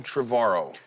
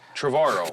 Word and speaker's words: Trevorrow: with my guest Colin travaro you said it right finally trevorrow like tomorrow yeah there you go